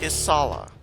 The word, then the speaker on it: Isala: Her name is Isala. How do I spell that? Isala. Isala. There you go. The final L is silent.